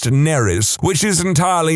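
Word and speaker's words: Nerys: fine, except that it's spelled exactly the same as a Welsh name, which is pronounced Neris, which is entirely not what I was going for.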